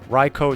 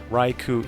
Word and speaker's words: Raichu: a bit inconsistent but as far as the actual pronunciation based off Japanese raicho is the correct pronunciation but I can't blame you for Raichu either because that's how it looks in English you find a pokedex